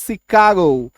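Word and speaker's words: Chicago: एन सीपॉन सी एच आई सी ए ओ शिकागो पी ए आर ए सी एच U parachute ठीक है तो ये सारे क्या हैं?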